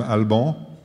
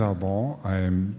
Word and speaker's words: Alban: How many of you can pronounce my name, Alban? That's pretty good. So my name is Alban.